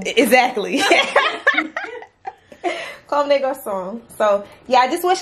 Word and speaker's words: Comme des Garçons: It's Comme des Garçons. Comme des Garçons. Exactly. Comme des Garçons.